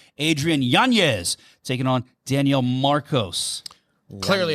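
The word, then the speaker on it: Yanez: right he but see they don't put the Tity over his name that's why I've been mispronouncing it forever and nobody's been saying it right Adrien yanes taking on Daniel Marcos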